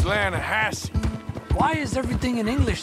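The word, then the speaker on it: Lannahechee: the other day i rode down to the lana hetchy river i caught some beautiful steelhead trout you mean atlanta hassey river no no no no no the lana hatchy it runs right near here yeah but it's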